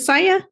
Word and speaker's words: Saia: Today we have Cristiana Saia. Is it Saia?